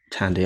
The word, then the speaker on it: Thandie: Am I saying her own name wrong? Yeah, Thandie Newton. Tandy.